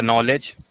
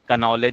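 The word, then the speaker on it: knowledge: हम लोगों को क्या समझाया गया? कह लो के साइलेंट है के साइलेंट रहता है के साइलेंट है ये के साइलेंट कहने वाली बात है साइलेंट उन्होंने अपना जहां मर्जी हुआ साइलेंट कर दिया उनकी जुबान है कोई कुछ कह नहीं सकता अगर हम अपने अपनी चलाने लग कनाइव कह रहे कनलेज इस तरीके से यूज़ करने लगे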